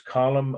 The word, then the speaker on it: column: you know but it's it is an odd spelling it's not phonetic c o l u m n there's that on n at the end column of trajan or